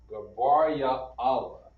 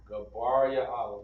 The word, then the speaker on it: Gabriel: And Gabriel is pronounced Gabar Ya'ala. Alright? Gabar Ya'ala.